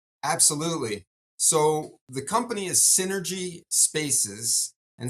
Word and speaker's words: Cinergy: So the company is Cinergy Spaces, and Synergy is spelled like cinema. So it's Cinergy.